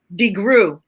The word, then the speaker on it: DeGruy: Joy, how do you pronounce your last name? DeGruy.